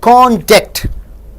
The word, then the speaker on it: conduct: If you stress on con and stress less on duct, it means the character. See, contact. You stress on con, less stress on duct, you get character. Conduct. So first syllable is stressed.